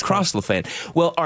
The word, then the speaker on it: Lafayette: It's 4th and Lafayette. Yeah. To come back to the pronunciations. Lafayette.